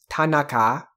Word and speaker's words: Tanaka: Remember in Japanese that none of the syllables receive stress, are not stressed any more than the other ones, and that a at the end is going to remain an a, not like an like we want to give it.